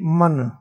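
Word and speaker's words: मन: We call in Hindi man. How we pronounce M-A-N-A. Man.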